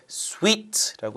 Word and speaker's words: suite: 실제 스펠링이 이거고요. 읽으실 때 sweet라고 읽으셔야겠죠.